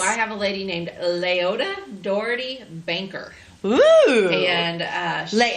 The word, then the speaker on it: Leota: for us oh I have a lady named Leota Doherty banker and uh late how do you say that name Leota Leota Leota which is actually I love that one too